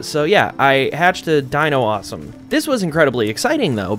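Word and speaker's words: Dinossom: one right Dino awesome I know it's supposed to be like Blossom but they threw in like Dino because it's like a dinosaur that has like flowers and plants on it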